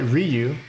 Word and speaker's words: Ryu: and and and even in the in the animated movies if I recall correctly, but Ryu is how you should pronounce it.